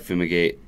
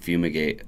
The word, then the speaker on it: Fumigate: never pronounce it right it just looks like Fuma gate and it's just fumigate I don't I don't